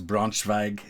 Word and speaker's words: Braunschweig: point to the British Brunswick is German German I think it's Braunschweig is how it's said in German so Even's not how